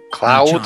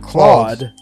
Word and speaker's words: Claude: Cloud or Claude? Claude.